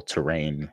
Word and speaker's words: T-Rain: game called T-Rain or Terrain. It's it's supposed to say it's supposed to be pronounced terrain, but it's spelled T hyphen rain.